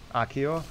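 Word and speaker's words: Accio: Akio? Oh, okay, that's how you pronounce it.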